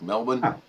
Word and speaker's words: Melbourne: in there but he's everyone i talked to about it says you don't pronounce the r it's like melbourne so now hopefully i'm